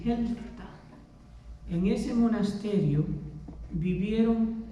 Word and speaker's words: Helfta: En los 1200 en Alemania, y existe todavía este monasterio, en un lugar que se llama Helfta, Helfta, y se pronuncia así, Helfta.